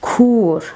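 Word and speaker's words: kûr: Kur. As you see, it is long u.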